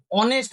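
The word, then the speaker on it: honest: Number 3 দেখো অনেস্ট ম্যান, এখানে হনেস্ট ম্যান বলি না আমরা, হনেস্ট ম্যান নয় অনেস্ট ম্যান, তাহলে এই এইচটা সাইলেন্ট, এইচ এর ওয়ার্ডটা কিন্তু সাইলেন্ট, তাই এখানেও আমাদের অ্যান এর ইউজ হবে।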